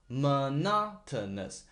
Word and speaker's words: monotonous: their monotonous they're monotonous I focus on Mon monotonous monotonous monotonous the second syllable of this word is stressed monotonous okay their monotonous voices reverberating